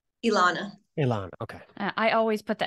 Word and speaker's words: Elana: Elana, okay. I always put the emphasis on the wrong syllable 100% of the time. Spelled a little fun. I get Elena a lot, but it's Elana.